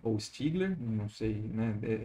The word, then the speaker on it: Stiegler: Stiegler, não sei, né, o sobrenome dele é pronunciado de duas formas diferentes, porque ele era, né, francês e filho de alemães. Então, a versão francesada é Stiegler, a versão alemã vai ser Stiegler, mas ele e o